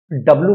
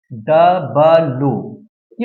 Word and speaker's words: W: नाम हो सकता है इसका क्लियर प्रोनंसिएशन होता है डबलू डब्लू नहीं होता जैसे डबल ये डब्लू आप बोलते हैं डब्लू गलत होता है जबक इसका सही मान होता है डबल यू ये होता है डबल